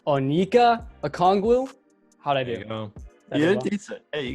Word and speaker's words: Onyeka Okongwu: don't know how to say his first name, Onyeka Okongwu.